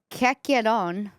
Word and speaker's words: Chiacchierone: So basically, okay, this is how it's spelled. The Italian word, it's Chiacchierone.